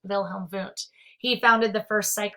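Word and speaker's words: Wilhelm Wundt: is wilhelm voont so i know it's with the w but it's german so it's pronounced wilhelm voont he founded the first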